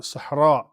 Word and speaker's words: Sahara: Put a sukun on the ha. So the Sahara is actually Sahara, right?